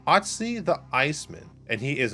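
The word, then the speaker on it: Ötzi: botch this name i'm not sure how to pronounce it it's otzi otzi otzi the iceman and he is an item since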